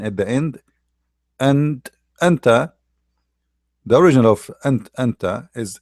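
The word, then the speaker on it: أنتَ: one for male, uh, the one for the male have fatha, anta.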